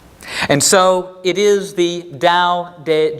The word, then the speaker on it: Tao: to be clear da is pronounced as if it had an initial D consonant even though it is spelled with a t and Jing is pronounced